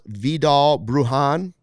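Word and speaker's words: Vidal Bruján: uh on the return side how is it pronounce viall bruhan bruhan viall bruhan also 26 I mvis might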